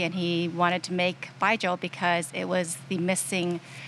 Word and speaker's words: Baijiu: Baijiu is pronounced like say goodbye to a guy named Joe. Like, bye, Joe.